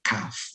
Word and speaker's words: cough: Jadi cough salah, bukan seperti itu. Bacanya cough. Jadi seperti F.